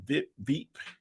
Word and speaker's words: VIP: I think that would be pronounced Veep, Veep, Veep.